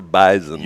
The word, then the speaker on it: bison: They said the correct way to pronounce bison. It's a Z. Yeah, it's a bison.